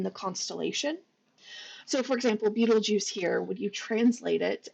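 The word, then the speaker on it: Betelgeuse: film um and it can also be pronounced betelgeist which I I don't like as much but it's actually Arabic a lot of the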